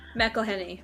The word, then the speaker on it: McElhenney: I like Rob McEnelly. I think that's how you say his name. McElhenney, right?